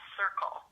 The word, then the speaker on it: CERKL: Um but the name of this gene that appears to be the cause of your RP is called circle. But it's spelled c e r k l.